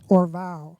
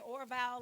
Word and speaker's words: Orvalle: You say Orvalle, like Yeah, on my Instagram bio, I have it in the bio how to pronounce it. OR-VOW.